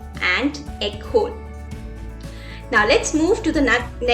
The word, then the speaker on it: école: It makes the pronunciation of E as A. A. For example, été. Été. Été is summer. École.